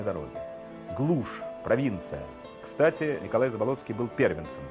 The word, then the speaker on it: Заболоцкий: Он родился под Казанью, где его отец Алексей Агафонович Заболоцкий, не Ц, а Т, а вообще правильно произносилось Заболоцкий, фамилия была родовая, работал агрономом, сам он был из крестьян.